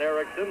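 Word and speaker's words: Eriksson: and the other John Ericsson is er I XE I are KS s om but pronounced exactly the same to John Ericsson ISM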